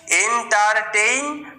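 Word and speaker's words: entertain: TAIN, টেইন, টেইন। AI এর উচ্চারণটা কিরকম হয়? এরকম ভাবে উচ্চারণ করতে হয়, এন্টারটেইন।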